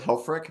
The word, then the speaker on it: Helfrich: you nail it i i would go with helfrick but every time i meet somebody new it's a new different pronunciation so whatever you're most comfortable with is